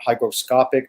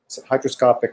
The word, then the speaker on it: hygroscopic: advise right now because it's not hygroscopic meaning that it is uh hydroscopic or hydro anyway so that term erased that that i said it wrong but anyway it it